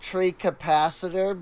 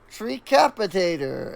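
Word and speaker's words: Treecapitator: of the connected logs I used to call it tree capacitor because I totally read the name wrong if you go back to some of my old videos uh um you'll hear me say tree capacitor cuz I wasn't thinking you know tree capitator is in you know decapitate kind of I I I I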